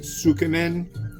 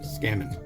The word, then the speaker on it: tsukemen: It's spelled Tsukemen, and it looks like it's sukemen. I used to call it that, but it's pronounced skemen.